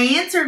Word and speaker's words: answered: I answered my phone when the person at the next